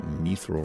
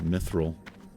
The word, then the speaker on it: mithril: That mithril right there. Mithril. I always say mithril.